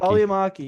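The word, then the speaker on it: Välimäki: He got fourth place, Sami Valikimi, Vali Valiamaki. Valimaki. Valiamaki. Yeah, there we go.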